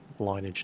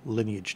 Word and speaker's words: Lineage: elf from the game linage 2 or Lineage 2 I've heard it pronounced both different ways uh very very highly